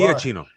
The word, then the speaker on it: Giacchino: You were closer to correct pronunciation than most people. Iachino.